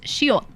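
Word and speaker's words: 시옷: This is shiot. It's an S. But oh my god, but you pronounce it like shiot.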